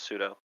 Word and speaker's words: pseudo: move that is true you don't have to pronounce the p in pseudo it's just pseudo i learn something new